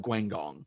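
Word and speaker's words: Guangdong: the brave lad of guangong okay that that second g is with the first syllable thank you todd yeah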